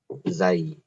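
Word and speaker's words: زاي: You will pronounce it letter zay or zay. Zay. Z, like letter Z.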